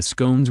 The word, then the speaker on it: scone: pronunciation is scone - to rhyme with bone Thea Ward 9 came